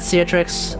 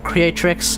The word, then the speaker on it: Creatrix: see i see that ciatrix oh creep no sorry that's completely mispronounced your name um yeah i see i see your name um creatrix uh cheers for the